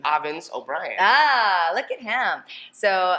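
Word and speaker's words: Avens O'Brien: You aren't going to risk mispronouncing my name. Avens O Brien.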